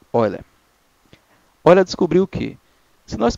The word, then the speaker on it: Euler: Mesmo escrevendo Euler, se pronuncia Euler.